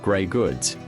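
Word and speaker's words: greige: At this stage, the fabric is called gray goods, pronounced gray goods, even though it might be off-white or cream colored. Grayge fabric contains natural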